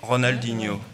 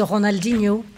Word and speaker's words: Ronaldinho: même temps alors moi j'ai adopté la prononciation française de Ronaldinho hein Ronaldinho été de